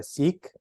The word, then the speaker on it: Sikh: need to share um being that I'm a Sikh actually it's pronounced sick but I don't want to say like I'm sick um but if wherever